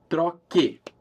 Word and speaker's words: troque: in car, eu troco, I drop the O in order to keep that same hard C sound. I need to spell that with a Q-U in Portuguese, troque.